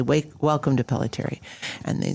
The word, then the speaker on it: Pelletiere: Maybe you need to put like a long E sound at the end.